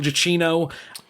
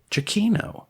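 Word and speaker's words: Giacchino: it's very emotional it is superbly staged Michael Gino proves himself yet again to be to 21st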